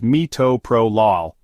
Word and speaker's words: metoprolol: of bleeding metoprolol also known as less is pronounced metoprolol it is a beta blocker that reduces blood